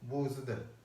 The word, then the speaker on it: бузда: Последняя, опять же, подчеркиваю, одинарная гласная, она не звучит как «бузда». Она звучит что-то близкое к звуку «э» или «ы», «бузда». Но если это долгая гласная, как, например, свой шамда, то она звучит четко.